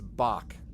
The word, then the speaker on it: Bach: to you okay it's Bach let me double check and see I don't remember obviously back rhymes with Zack Bach look there's his cape